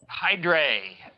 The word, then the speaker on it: Hydrae: a pronunciation is important is it you hydry hydrae it is the the latin way of pronouncing hydra that's unless you watch